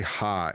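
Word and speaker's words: 刃: Just say ha. It's Japanese way to say blade. That's the Japanese way to say blade is ha.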